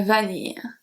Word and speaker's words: vanille: le sucre, and la vanille. So here, the spelling of vanilla and vanille are very similar, but the pronunciation is extremely different.